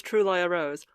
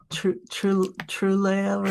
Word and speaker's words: Truliarose: This first one is I think they pronounce themselves Truliarose. Truliarose. True and true as in truth and liar as in lie. And then rose.